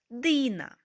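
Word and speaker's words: Dina: і на Іда Ніна Дина наприклад ім'я Діна в українській мові звучить м'яко Діна німецькою мовою Ми будемо вимовляти його твердіше Дина дуже простою в написанні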